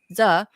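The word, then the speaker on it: Sze: The bank allowed one criminal based in Queens, New York, David Z, I think it's pronounced S-Z-E, S-Z-E, Z, to move more than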